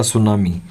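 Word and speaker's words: tsunami: Second lesson का नाम है द सुनामी। टी इसके अंदर साइलेंट है।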